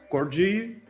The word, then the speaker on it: KorGE: and we'll build the thing with help of corgi corgi I don't know how what is the correct way to pronounce it.